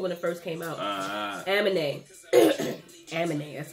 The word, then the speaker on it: Aminé: Aminé, that's how you say it.